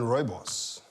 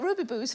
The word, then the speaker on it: Rooibos: amazing yeah it's astonishing but is it better than Rooibos oh the South African tea isn't it I'm so glad how to pronounce that right boys I've been calling it Ruby booze for years I was 33